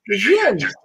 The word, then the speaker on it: Djinn: Did I pronounce that right? DJINN.